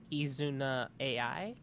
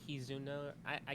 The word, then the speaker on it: Kizuna Ai: Her name is Kizuna. I keep saying the name wrong. What's it pronounced? I think it's Kizuna Ai. Kizuna I.